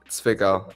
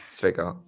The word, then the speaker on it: Zwickau: What the people have asked me, it's Zwickau. That's the name of the city. The W is like a V, so Zwickau.